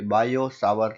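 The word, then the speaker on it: Biot–Savart: बायो सावर, actually ये टी जो है ना, बायोट और सावर, वो साइलेंट है, मतलब कि बायो सावर लो ऐसा बोलते हैं।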